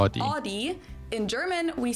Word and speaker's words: Audi: And that's so Audi means listen like audio. So that's why we say Audi because it's audio and we just remove the O.